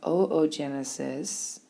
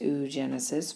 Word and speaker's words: oogenesis: the male during spermatogenesis we have oogenesis it's not pronounced ooh genesis but i wouldn't mark you wrong if you said it like that we produce ovum in